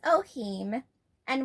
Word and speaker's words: Ohim: My son, our newest member of the family, is Ohim, and we call him Ohi. But if you were to say his name out loud as a sound, it would be Ohima. Which is then Ohim.